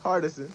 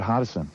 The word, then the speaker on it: Hardison: Hardison. Hardest. I thought see there it's- was an R in I it. say it Hardison.